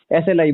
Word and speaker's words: ASLI: ए silent रहता है, SLI बोलते हैं उसको।